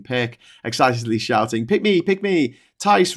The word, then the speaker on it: Tice: Tice rhymes with lice.